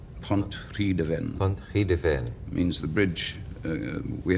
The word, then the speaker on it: Pontrhydyfen: Pontrhydyfen. Pontrhydyfen.